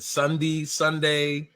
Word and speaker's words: Sondey: Is it Sondey? How do we say it? How do we pronounce it? You guys hit it right the first time. So pronounce just like the day of the week, which makes it really